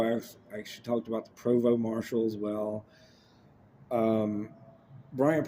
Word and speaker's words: Provost: And like I said, it's uh it's spelled like it's Provost and it's pronounced Provo.